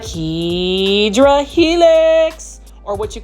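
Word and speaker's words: Hedera helix: I've tried it multiple times and just like hedra helix or what you call the hideera helix that's the correct way to say English ivol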